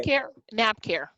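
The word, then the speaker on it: NaphCare: NAPCare. NAP. NAPCare. Yes, NAP. ma'am. NAPCare. Say again. NAP? It's spelled NAPHCAER.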